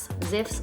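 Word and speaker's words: Zipf: something called zif's law so it's spelled z-i-p-f ziff's law it says that if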